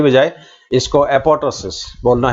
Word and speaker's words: apoptosis: silent तो खैर का यह कहना है कि एपॉपटोसिस जो है इसको इस तरह बोलना चाहिए कि सेकंड जो है वह साइलेंट एपॉपटोसिस की बजाय इसको एपॉपटोसिस बोलना है यह ज्यादा सही है इसके अलावा